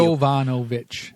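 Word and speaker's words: Yovanovitch: Jovanovich. Like Yankovic.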